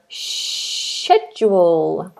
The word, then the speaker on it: schedule: the word shedule schedule so think about English people have a shed English people have a shed so they have a schedule Americans have a schedule British have a schedule because they have a shed in their back Garden okay good right let's